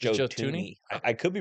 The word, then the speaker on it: Thuney: I believe the H is silent. I believe It it's is? It's Joe Joe Tooney.